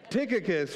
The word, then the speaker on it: Tychicus: Tychicus, right?